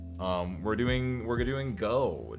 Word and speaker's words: gogh: Um, we're doing we're doing go G O G H or G, but I think I think most people just pronounce this go.